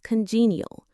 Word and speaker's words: congenial: A wonderful word to describe this quality is congenial. Let's say it. It has 3 syllables, con-gene, neal. The stress is on the second syllable, gene. It sounds like the G in Jeep.